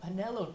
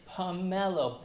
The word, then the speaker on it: pomelo: getting a visibly upset it's like it's pomelo pub mellow and he says yeah